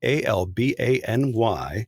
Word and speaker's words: Albany: uh don't know the the word a-l-b-a-n-y is pronounced albany yeah and that reminds